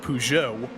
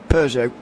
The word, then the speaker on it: Peugeot: he also won with the manufacturer that I pronounced Peugeot, and I'm sure you'll pronounce differently. Peugeot. Yeah. There's no R.